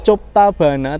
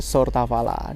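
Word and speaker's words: Сортавала: Tulisannya kayak Choptabana tetapi kita membacanya Sortavala dan di sini juga ada layar yang menunjukkan jadwal kereta api yang berangkat dari sini.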